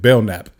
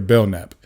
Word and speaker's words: Belknap: So that K is silent. His Detective Belknap, or Investigator Belknap.